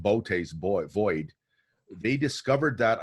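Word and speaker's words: Boötes: the name is from another nationality and it's pronounced bote's boy void they discovered that i think in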